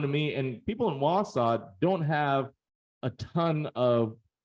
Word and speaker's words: Wausau: My understanding is this is pronounced Wausau. Is that right? It's not Wausau or Wausau. It's Wausau.